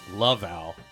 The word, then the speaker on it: Laval: It's pronounced Laval.